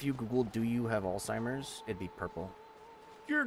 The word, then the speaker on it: Alzheimer's: him one two allheim alltimers I think I'm saying it wrong you are Alzheimer's Alzheimer's Alzheimer I have